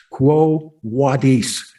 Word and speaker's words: Quo Vadis: the road away, and he says, Quo Vadis, Quo Vadis. That's how you would pronounce that.